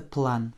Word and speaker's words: план: Это план по-русски. По-французски plan. Еще раз. Je n'indique pas l'accent tonique, tu sais pourquoi. Hein. Nous n'avons qu'une seule syllabe ici. Donc forcément, il tombe sur A.